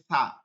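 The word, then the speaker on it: ث: ভালো করে খেয়াল করব এইটা বাংলায় হবে না জিহ্বার আগা এই যে দুই দাঁত আছে এই দুই দাঁতের গোড়ায় লাগাইছিলাম হচ্ছে তা আর এই দুই দাঁতের আগায় আগায় কোন শব্দ আসবে না এক নম্বর হচ্ছে কোন শব্দ আসবে না কোন শব্দ আসবে না ঠিক আছে কোন শব্দ আসতে পারবে না নরম উচ্চারণ করতে হবে বাতাস বসবে এটা তাফাসসির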